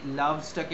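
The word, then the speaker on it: loves: একটাই হবে, কারণ কারণ এইখানে লাভ আমরা বলি, লাস্টের ইটাকে অ্যাকচুয়ালি কিন্তু উচ্চারণ করি না, ঠিক আছে?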